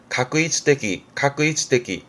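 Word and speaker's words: 画一的: 발음은 가끄이츠데기. 이 한자의 경우는 영화의 화하게 되면 가로 발음하겠지만 계획의 획 그러면 K 가크처럼 획은 카크 발음에 그래서 획일적인 건 가끄이츠데기 합니다.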